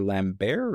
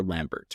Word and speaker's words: Lambert: was actually uh Christopher Lambbear or Christopher Lambert. I'm not sure how to pronounce his name. I believe it's Christopher Lambbear is how I heard.